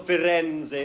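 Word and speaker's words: Firenze: Europe oh you'll love Florence or fenzi as it's known in Italian it's culture culture culture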